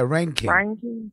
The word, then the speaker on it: Reinking: and told REINKING to, is that how you say his name? Yeah, REINKING. REINKING. Yeah, you're right. You got it.